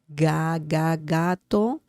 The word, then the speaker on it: gato: El gato, gato, just like Lady Gaga, that's the pronunciation of ga.